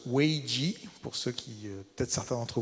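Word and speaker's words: 危机: Alors, effectivement, le mot crise, ce que je trouve intéressant, c'est qu'en japonais ou en chinois, le mot crise, qui se prononce weiji, pour ceux peut-être certains d'entre vous qui parlent chinois, en fait, c'est à la fois le danger, mais aussi l'opportunité.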